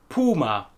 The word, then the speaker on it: Puma: the same meaning, but the brand name and the animal are both pronounced in German Puma. Puma.